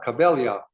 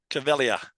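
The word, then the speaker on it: Caveglia: Well, the G is silent. 𝐒𝐫𝐬. 𝐒𝐫𝐬.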